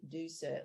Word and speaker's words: Ducere: actually means to leave it's Latin and you simply say do sir which is d-o yes